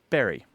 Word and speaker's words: Bury: So you end up with B-U-R-Y for most people in the UK and the US is pronounced berry. Berry, it's not right. It's not quite like B-E-R-R-Y, like the fruit, but it's very close to it.